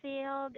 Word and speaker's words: field: one field field okay this is not failed oh the word field is spelled like this okay so this is failed this is field field and also i have